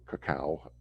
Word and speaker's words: cacao: If we look at cocoa or cacao, is how I've heard the actual pronunciation, but cocoa.